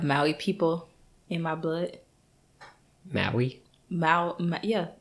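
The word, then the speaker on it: Mahi: people in my blood Maui yeah m-a-h-i and that's what that's how you say that's how you pronounce it I don't know yeah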